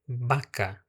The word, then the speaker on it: vaca: A primeira que eu falei, a palavra vaca. Em espanhol você vai dizer baca.